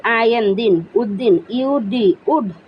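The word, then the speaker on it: Uddin: ইউডি, ইউ ডি, উদ, ডি আই এন, দিন, উদ্দিন, ইউডি, would, D আই এন, দিন, উদ্দিন।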